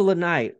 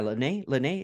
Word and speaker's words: Lanae: ads shout out to Lanai or yeah Lanae is how you pronounce it um shout to her